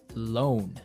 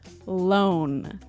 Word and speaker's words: loan: Not to be confused with alone, like by myself. No, so this is L-O-A-N. Loan.